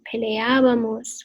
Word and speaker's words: peleábamos: So we're going to go with peleábamos with an accent on the first A of your ending.